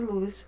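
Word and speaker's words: Lewis: L de luz certo desculpa que eu sempre Eh quero falar do jeito que está escrito né mas é estrutura de luz a pronúncia correta então eh verifiquem aqui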